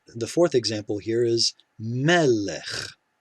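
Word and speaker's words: מֶלֶךְ: fourth example here is melech we know this first syllable will get the accent it will get the stress because we have an open syllable with a short segal vowel same with this last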